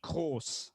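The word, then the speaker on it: Kroos: Um but the correct pronunciation of this fellow's name is Tony Co.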